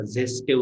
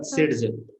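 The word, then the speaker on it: Saytzeff: मागच्या नीट मध्ये आला होता झेस्टेव रूल म्हणून. नाव असं जरी असलं याचं झेस्टेव, त्याला म्हणतात सेट-झेफ. असं काय, स्पेलिंग वेगळीच आहे त्याची, अशी स्पेलिंग अशी आहे, पण त्याला वाचायचं कसं, सेट-झेफ.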